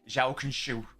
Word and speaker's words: João Cancelo: Like what's João Cancelo in actual Portuguese? They're like João Cancelo. It's probably Shello in it. Shell. Something like that.